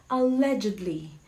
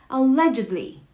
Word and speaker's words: allegedly: Oh, how do you pronounce this word? It's allegedly. Allegedly. Allegedly. Hindi siya allegedly.